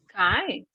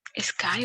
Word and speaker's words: ski: Sky o sky, Ski. ¿verdad? Remember, the sound is E. Oh, okay. Sky is the clouds, right? But ski is the sport.